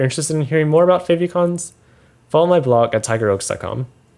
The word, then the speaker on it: favicon: i i pronounce it favicon because again it was like it's from favorites and i pronounced favorites as fave so that's where i